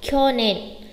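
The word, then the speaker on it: きょねん: Kyonen. Kyo nen. Chú ý không đọc là kyo nen, bởi vì kyo nen sẽ có trường âm, chúng ta chỉ đọc là gì thôi?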